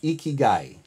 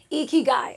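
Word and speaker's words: 生き甲斐: do you say it it's a Japanese word and it comes from the island of Okinawa and it's eeky guy eeky guy okayy and roughly translated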